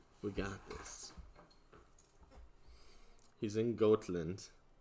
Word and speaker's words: Gotland: He's in Gotland. Gotland is actually how you pronounce it, but I'm gonna say Gotland.